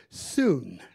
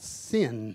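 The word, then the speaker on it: σύν: s-y-n in the greek the y has the sound of you so we will say synchronize in the greek you would say soon not sin not sin but we say it's sin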